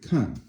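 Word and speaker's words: 看: Kan, fourth tone.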